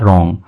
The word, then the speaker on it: wrong: English गलत होता है इसमें जो डब्लू होता है वो साइलेंट होता है और इतना ही पढ़ा जाता है रंग टर्न का मतलब होता